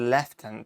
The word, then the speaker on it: lieutenant: And if someone said left tenant to me, I'd be like, are you just